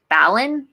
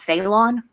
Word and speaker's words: Phalon: nuts when people mispronounce my name which is Balon not fatal on cuz a lot of people call me failure I'm like okay whatever